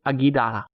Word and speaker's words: Aguadilla: hernandez airport runway in aguida aguirre puerto rico spell that word a g u a d-i-l-l-e-a so the end is like quesadillas the object did not give